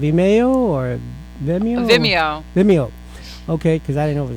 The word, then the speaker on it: Vimeo: the website of email or the muni meow vimeo okay cuz I didn't over this man of